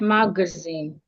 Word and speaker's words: magazine: Examples of such words, we can have the word magazine. Magazine. We're stressing the last part. Zen mag.